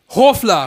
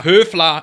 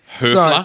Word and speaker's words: Höfler: Hofler. Höfler, if you want to pronounce it correctly. It's got the umlaut on the O. Right. Höfler.